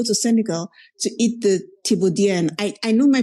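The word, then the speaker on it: Thiéboudienne: How do they pronounce it? Thibodien.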